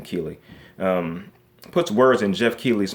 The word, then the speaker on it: Keighley: in jeff Keeley's mouth i believe this how you pronounce his name Kili puts words in jeff